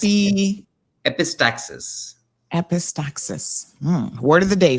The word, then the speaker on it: epistaxis: You got to pronounce that one for me. It's Epi. epistaxis.